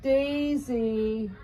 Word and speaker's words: Daisy: It rhymes with Maisie. They're called Daisy.